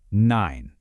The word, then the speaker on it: Nein: And that is nine. Super easy to remember. It rhymes with the number nine.